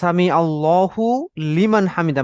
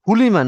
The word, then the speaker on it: সামি আল্লাহু লিমান হামিদা: আমরা এটা খুব কেয়ারফুলি উচ্চারণ করব, সামি আল্লাহু লিমান হামিদা, মানে আল্লাহ এবং লামটা আলাদা। নতুবা হুলিমান, হুলিমান একটা শব্দ দ্বারা যেটা আসলে খুব অর্থপূর্ণ না।